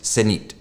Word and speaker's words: Zenith: If you want to get it absolutely right, and I don't always, Senit, that's just how it goes.